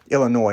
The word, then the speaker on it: Illinois: Okay, so that, Illinois, I'm sorry, I know I like to pronounce the S. I know it's not how it's pronounced.